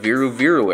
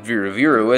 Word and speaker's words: Viru Viru: a whole that is if it is even viru viru as some people think it was originally supposed to be started with a B pronounced biru biru regardless it's a fun